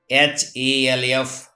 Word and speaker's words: half: Whenever L is found before M, F, K, D, in that condition, L is silent. As example, CALF, cough, not calf. CHALK, chalk. HALF, half.